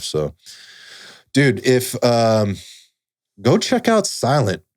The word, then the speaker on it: SLNT: Yeah, we pronounce it Silent. That's the brand name.